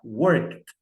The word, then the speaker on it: worked: Nesse caso aqui, o work é pronunciado com som de T. Então, vou pronunciar worked.